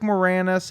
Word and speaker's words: Moranis: Rick It's Moranis. Russian. Yeah, it is Russian. That's right. Sadly, all right. You know, Ukraine. Where Rick Moranis and some other asshole just play just like dumb Canadian characters.